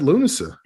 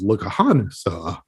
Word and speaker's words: Lughnasa: until you said it i always thought it was look a han saw maybe it is i don't think so i think it's lunaset